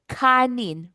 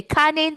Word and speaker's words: kanin: Um ngayon let's practice um pronouncing this word sa tagalog. Sige. Now we have here kanin for rice. Let's say kanin three times.